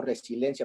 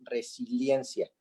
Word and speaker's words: resiliencia: d de dicción porque yo pronuncio resilencia pero es resiliencia entonces la palabra y